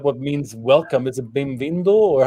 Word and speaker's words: bem-vindo: Is it bem-vindo, or how do you say welcome? Bem-vindo. And in the plural, it's say bem-vindos.